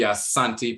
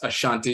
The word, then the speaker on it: Asante: Ghana and so forth specifically the Asante people sometimes mispronounced Ashanti and so forth recently